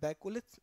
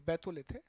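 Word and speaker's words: batholith: ये देखिए, ये डायग्राम आप देखें तो यहाँ एक बैकोलिथ, बैथोलिथ, सॉरी बैथोलिथ है प्रोनाउंसिएशन, बैथोलिथ नाम की चट्टान बन रही है इतने बड़े इलाके में।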